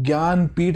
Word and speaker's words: ज्ञानपीठ: श्रेणी में ज्ञानपीठ अवार्ड इसको हिंदी में ज्ञानपीठ लिखने हैं यहां पे इंग्लिश में स्पेलिंग के से स्टार्ट होती है पर बोला उसको ज्ञानपीठ अवार्ड ही जाता है ज्ञानपीठ अवार्ड लिटरेचर